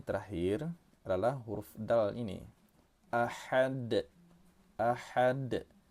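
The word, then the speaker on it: أحد: Huruf dal terletak di akhir kata, kita pantulkan cara membacanya. Nama hukum tajwidnya ialah qalqalah kubra. Ahad. Kita keraskan, tapi jangan terlampau keras pula. Ada yang bacanya ahad, nah gitu, jangan seperti itu ya.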